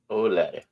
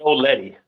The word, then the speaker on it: Old Laddie: Laddie, Old Laddie. oh Laddie. Not Old Letty.